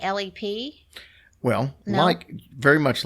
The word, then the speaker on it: Leap: Yeah, well, everybody does because it's spelled L-E-A-P. But she Yeah. said they said in Ireland they don't leap, they lep. There So you go. there we go. So it's lep.